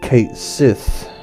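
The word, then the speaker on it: Cait Sith: To say it right would be Kate Sith, because his name is Caitshith. We all know about the Sith, don't we? But I prefer to call him Cat Scythe, because half of him is a cat, so.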